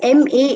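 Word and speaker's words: 間: way of thinking see ma is and you pronounce as m a a h ma okay okay and ma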